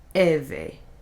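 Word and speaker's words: Hevae: H's are silent. Eve.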